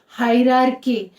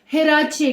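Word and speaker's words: hierarchy: Actual उसका pronunciation है हिरार्की, हायरार्की। लेकिन यहाँ पे हम इंडियन प्रोनाउंसिएशन में हम उसको हिराचे कहते हैं।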